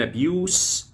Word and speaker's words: abuse: charges of corruption and abuse of power. An abuse of power يعني هو قبض عليه باتهامات الفساد. An abuse of power واستغلال السلطه. وهنا الابيوز نطقت الاس نطقتها س سين.